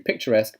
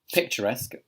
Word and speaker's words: picturesque: So that the last spelling there is pronounced esque. Esque. Kind of like a K sound.